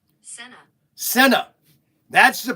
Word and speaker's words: Senna: Now the correct way you say this is Senna. Okay. He died in 1994 in Italy. Pronunciation. Okay, let's do it. Ready? We're going to do this pronunciation. Senna.